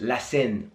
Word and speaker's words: La Seine: It's pronounced La Seine.